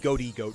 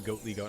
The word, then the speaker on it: Goatly Goat: It's like when people call me Goaty Goat as opposed to Goatly Goat.